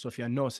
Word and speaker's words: Sofianos: And my last name, which Sofianos, literally means, Sofianos is the correct pronunciation.